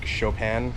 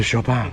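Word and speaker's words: Chopin: reference there is a famous composer isn't it like frederi chopan or something like that but it's spelled like c h o p i n which works perfect because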